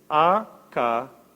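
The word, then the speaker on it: ἀκέραιος: La palabra ingenuo, otra versión dice inocente, viene de la palabra, a ver si puedo pronunciarlo bien en griego, akareios, A-K-E-R-A-I-O-S, akeraios.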